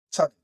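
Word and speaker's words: צדי: 차대. 다시 예대 음가는 치 또는 어 예 치에 치음이 치음이 들어가는 사제라고 발음이 됩니다.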